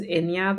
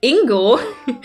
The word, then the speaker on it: Inya: My actual first name is Inya. The wildest mispronunciation that got was Ingo, because my teacher thought it was a typo.